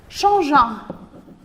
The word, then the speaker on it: changeant: Arrivant à la maison, déposant ses affaires, changeant. Et attention, le verbe changer, vous avez besoin d'un E pour prononcer le G.